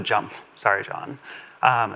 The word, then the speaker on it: JMP: I didn't know at the time that you're supposed to pronounce it jump.